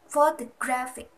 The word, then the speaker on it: photographic: For example, photographic. Primary stress is on the third syllable, and the secondary stress is on the first syllable, po.